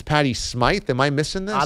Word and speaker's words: Smyth: Aren't they both pronounced Patty Smith? It's not like you're pronouncing it wrong. Unless it's Patty Smyth.